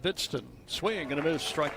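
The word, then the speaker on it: Hvidsten: Young man spells his name H V I D S T E N. He is from Minnesota. You getting that down? Silent H. Pronounced Bidston.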